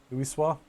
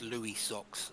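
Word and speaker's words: Louisoix: um l l Lis lisah yeah it's not pronounced Louis socks like many Americans seem to want to pronounce it Louis is socks apparently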